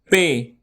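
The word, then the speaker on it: پ: Pay. You can pronounce it like you say pay money.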